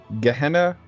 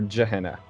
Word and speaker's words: Gehenna: hina ah it's well there's two ways to pronounce it you can pronounce it gehenna or jahena but yeah gehenna is